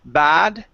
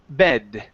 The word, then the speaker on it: bed: e sound so here instead of saying bad okay it's gonna be short e e b bed bed bed there you go good